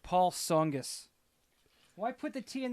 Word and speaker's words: Tsongas: potato right very few words where the t is silent and they all sound wrong yeah right they do like Paul Tsongas why put the tea in that off you're